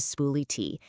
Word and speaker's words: SpooliT: your documents, and that brings us right to Spool-it. And by By that's pronounced Spool-It.